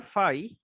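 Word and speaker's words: phi: তো এই Euler ফাই বা শুধু ফাই ফাংশনের ডেফিনেশনটা কি? তো ফাই অফ এটা উচ্চারণটা আসলে এইভাবে করে, ফাই, পিএইচআই, পিএইচআই। সো এই অয়লার ফাই ফাংশনটার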